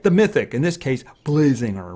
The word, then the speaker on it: Blazinger: He's actually made from Blaz. So it's kind of weird to call him Blazinger, but then again, that is how you would spell it. So we're going to say Blazinger.